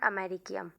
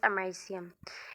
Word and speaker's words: americium: introduction americium is pronounced as a marissian not american its actual pronunciation is americium it has a silvery white appearance and has